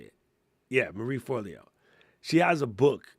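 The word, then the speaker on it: Marie Forleo: Marie Forlio.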